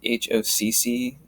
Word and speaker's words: hoc: And so the actual pronunciation, you would actually have it would be pronounced HOCC to have it long, just to end it off.